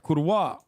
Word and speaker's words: kurwa: after all that's right kurwa at least learn to say the word please like at least learn to pronounce the word it's with a hard V bro on the Poland